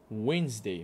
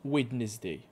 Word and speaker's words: Wednesday: دونك نعاودو مانداي تيوزداي وينزداي ماشي ويدنزداي، وينزداي كنقزو ما كنطقوش هاد الدي، هاد الدي ما كتنطقش.